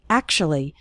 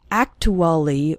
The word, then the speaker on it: actually: pronunciation of the word actually we don't say act to Ollie or something like that we say actually is actually then we